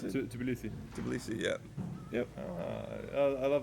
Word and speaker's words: Tbilisi: Is that how you pronounce it? Tbilisi.